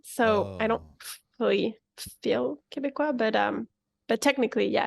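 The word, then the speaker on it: Québécois: you one of the the quebecois is that how you say it yes that's exactly how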